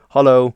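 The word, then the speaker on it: hallo: formal or informal is hollow which means hello and it's kind of pronounced very similarly to how in English you might say Hollow so if you have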